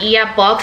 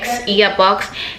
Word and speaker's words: IIYABOX: birth, you can go on their Instagram at earbox. It's spelled IIYABOX, earbox, and they have their link in their bio,